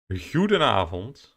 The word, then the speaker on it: Goedenavond: Goedenavond, Evelino. Which is good evening in Dutch. With a little bit of soft G.